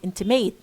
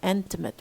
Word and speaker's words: intimate: So we say schwa.